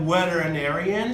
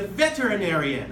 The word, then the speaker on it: veterinarian: V sound they can pronounce elect V they pronounce like wet so it's not like she is a wetter anarion she's a veterinarian okay thank you for later the third sound